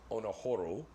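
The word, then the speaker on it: オナホール: And Onaholes, actually it's pronounced Onahoru, translates to masturbation hole.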